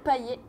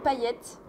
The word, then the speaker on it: Paillet: Paillet ça se prononce paillette c'est Ronné et comme le joueur de foot Dimitri paayette ou encore l'humoriste Manu paayette on prononce le T à la fin et quand vous voyez